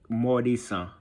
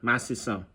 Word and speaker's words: Matisan: I don't even know how to say it in English. I guess it would be more like Mordisan. Mordisan. If I wanted to say it in English, Mordisan. But Matisan.